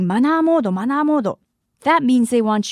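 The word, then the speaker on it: マナーモード: And by the way, in Japan, vibrate mode is often called manner mode or manamodo, pronounced in Japanese. If someone comes up to you saying manamodo, manamodo, that means they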